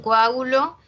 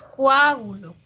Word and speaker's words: coágulo: En coágulo, separamos la O y la A, ¿ya? No es coágulo, coágulo con U no es.